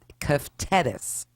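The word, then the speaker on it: κεφτέδες: I think it's pronounced keftedes. If I'm not mistaken.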